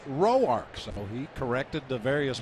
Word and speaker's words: Roark: And through the early part of his career, uh, as you might expect, everybody called him Tanner Ror. And his grandmother didn't like it. She said it's pronounced rowarch.